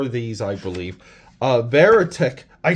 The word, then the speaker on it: Verotik: Verotik. I said it right. Verotik.